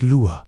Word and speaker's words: Lwa: Vadu is about honoring the Elwa, pronounced lure, or spirits.